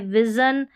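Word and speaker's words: vision: यहाँ पर है टेलीविज़न, सभी में जन है और कहीं पर शन भी होगा, वो भी आगे स्पेलिंग्स आएगी। ये है विज़न।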